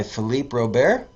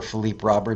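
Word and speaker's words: Philippe Robert: York I'm coming by Philipe Rober or Philipe Robert if you give it the American pronunciation and number four was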